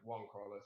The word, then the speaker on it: Juan-Carlos: you hear say right it is in fact one Carlos so glad you here buddy yeah you